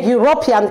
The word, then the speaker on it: European: upon us as June how did these two letters as pronounced as do when we're talking about a speech wait there are pronounced as you so be careful when